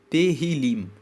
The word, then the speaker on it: Tehillim: Em hebraico, salmos se chama Tehillim. Se escreve T-E-H-I-L-I-M.